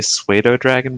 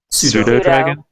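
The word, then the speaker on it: pseudodragon: how do you say I used to say suede oh dragon but I know that's wrong pseudo dragon pseudo yeah like sudafed pseudo make a sandwich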